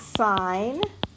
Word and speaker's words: sine: and t s is sign and the button on your calculator is si n which is pronounced sign knots in C is